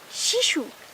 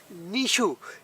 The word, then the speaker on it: নিশু: নিশু। শিশু? নিশু, ন রশ্মি, নিশু।